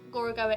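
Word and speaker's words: Gorogoa: beautiful puzzle game gora goa i really hope gorogowa is the correct pronunciation it's a beautifully hand-drawn puzzle game and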